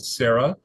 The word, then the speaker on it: Cerah: When I do, I use my product called Cerah, and it's spelled C-E-R-A-H. So it's a ceramide product, but it's also it's named after the biblical patriarch Sarah in the Bible, because there's a story